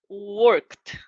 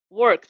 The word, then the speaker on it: worked: Instead of ed, you are going to pronounce like a t. For example, worked. Worked. Repeat. Worked.